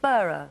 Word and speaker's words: Beurer: bringing some fantastic products do I pronounce it burro bora-bora yep please tell us about the company and then it's great massages yeah Bora is the go-to brand in Europe for health